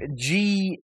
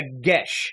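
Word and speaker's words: geis: You think it's pronounced one way, like Geia, something like that. Yeah, it's actually they're weird. It's a gesh.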